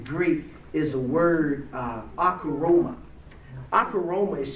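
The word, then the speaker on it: ὀχύρωμα: Akaroma is spelled O-C-H-U-R-O-M-A.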